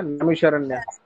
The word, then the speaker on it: नैमिषारण्य: चलो, तो नैमिषारण्य है, गलत प्रोनाउंस कर दिया, नैमिषारण्य है ये।